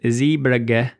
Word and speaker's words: Zeebrugge: And after the fact, I am now learning that the correct pronunciation is Zeebrugge, so apologies for the earlier pronunciation.